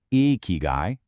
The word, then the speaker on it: ikigai: At its heart, eeky guy, pronounced eeky guy, is your why.